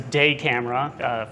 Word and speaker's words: DaCamara: So, my name is Cameron De Camera. That's a De Camera for those who are curious about the pronunciation.